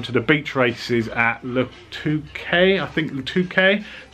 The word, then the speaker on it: Le Touquet: We're going down to the beach races at Le Touquet, that's how you pronounce it, on the Normandy North Coast, not